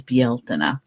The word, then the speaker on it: Bealtaine: They would have jumped the fire last night, and today is Bealtaine. And I only know how to pronounce that correctly because of my good friend